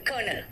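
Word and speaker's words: colonel: कर्नल। कर्नल बोलते हैं कर्नल। आर है ही नहीं। अगर आप स्पेलिंग के हिसाब से जाओगे तो कहोगे कोलोनल है ना स्पेलिंग के हिसाब से क्या है कोलोनल ठीक है क्या कहा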